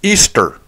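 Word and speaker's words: Ishtar: Semiramis, Nimrod's wife, in Babylon was known as Easter. I know you can see it on this chart. It's spelled I-S-H-T-A-R, but it's pronounced Easter.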